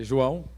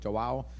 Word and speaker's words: João: bom meu nome é João né Eu tive que adaptar o meu nome para por questão de pronúncia né o americano não consegue pronunciar o a o né Sai ja joau mas o meu nome brasileiro